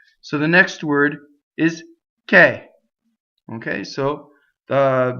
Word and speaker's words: che: So what happens is the word k, being a strong monosyllable, caused the next word to start, if it has a consonant, to have two consonants if it starts with a consonant, right?